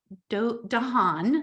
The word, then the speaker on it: Dehaene: But we do know if we study the work of Stanislaus Dehaene, that's how you say his name.